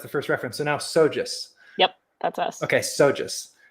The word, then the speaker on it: SoGES: anymore because that's the first reference so now sojus yep that's us okay sojus okay micah always